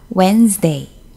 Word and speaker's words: Wednesday: 어이 2 으 a 웬즈데이 자 이 스펠링 보시면요 우리가 여기 웬즈데이 의 2b 발음이 있는데 d 소리가 전혀 나지 않고 있죠 웬 스 데이 명사